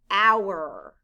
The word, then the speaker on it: hour: The letters O-U stand for the ow sound.